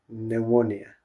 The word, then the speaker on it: pneumonia: They English they don't pronounce P. They only say pneumonia.